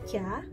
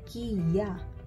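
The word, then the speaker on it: キャ: Kalau misalnya kalian bikinnya kayak ki ya, kalau kalian bikin besarnya sama, ini bacanya bukan kya melainkan kia. Oke, jadi tuh salah.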